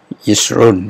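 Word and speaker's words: ישרון: Run, yesurun, yesrun ya. Jadi diucapkan cepat, epepet saja, di situ, yesrun, yesrun ya.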